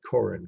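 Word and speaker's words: Korin: uh if it's on the exam you'd write coren k-o-r-i-n and this would be 1700.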